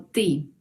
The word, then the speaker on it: ты: Tú se pronuncia como ты.